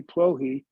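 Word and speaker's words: Plokhy: crazy spelling but it's sir hey prohe so it's s-e-r-h-i-i which is a name like John in Ukrainian and plohy p-l-o-k-h-y which the Google Gates of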